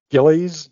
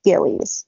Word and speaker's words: Gilley's: back into the plot I did look up the pronunciation yesterday and I believe it is Gillies so sorry to anybody